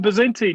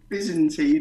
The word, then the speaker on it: Byzantine: they were so even bazentin you've got to say it with a Greek accent yeah but then actually they it's actually spelled with a V for victory as well